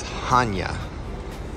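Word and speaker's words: Chania: go quick little correction the pronunciation of the port that they list is Hana haa with a ch um but we're still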